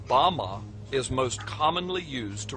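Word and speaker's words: בָּמָה: which Satan fell is Strong's Hebrew word 1116 pronounced Bama Bama is most commonly used to refer to a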